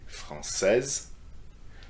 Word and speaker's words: française: And by doing so, you need to pronounce the last consonant, which is not pronounced otherwise in the masculine form.